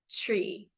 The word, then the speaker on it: Twi: And then the language is tree. It's spelled TWI, but then it's like sounds like tree.